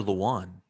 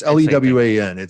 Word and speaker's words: Lewan: Is Lewin or Luan? It might be Luan. I don't know. It's Lewan. It can be pronounced either way.